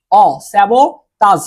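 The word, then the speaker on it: sabotage: এটা হচ্ছে স্যাবোটাস, ঠিক আছে? স্যাবোটাস। এই যে বাংলা উচ্চারণটা অনেকটা এরকম, বাংলা উচ্চারণটা অনেকটা এরকম, ঠিক আছে?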